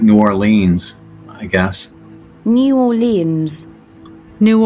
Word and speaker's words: New Orleans: about the football team it would be the New Orleans Saints if I'm talking about the city like I'd love to go to New Orleans it's more like New Orleans I guess New Orleans New Orleans you could